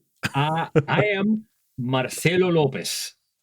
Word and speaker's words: Marcelo Lopez: Uh, I am Marcelo Lopez. Marcelo Lopez. That is that is the full pronunciation of of my name.